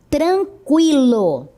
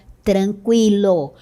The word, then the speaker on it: tranquilo: 50, linguística, consequência, frequência, tranquilo. Note que a pronúncia continua sendo a mesma, com o U.